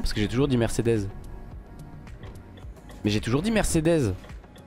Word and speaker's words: Mercedes: déjà plus parce que moi j'ai toujours dit merde c'est death et vous dites il faut dire Mercedes Mercedes mais non parce que j'ai toujours dit Mercedes mais j'ai toujours dit